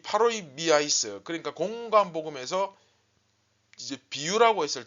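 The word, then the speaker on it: παροιμίαις: 파로이 미아이스. 이 미의 강세가 액센트가 들어가다 보니까 조금 발음이 웃기긴 한데, 뭐 여하튼 이 파로이 미아이스, 그러니까 공관복음에서 이제 비유라고 했을 때는 파라볼레라는 단어를 씁니다, 주로.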